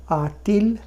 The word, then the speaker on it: a-t-il: তাহলে পুরো উচ্চারণটা করা যাক, as, as-tu, a-t-il, a-t-elle, a-t-on, avons-nous, avez-vous, ont-ils, ont-elles।